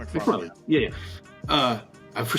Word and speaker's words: MacFarlane: MacFarlane.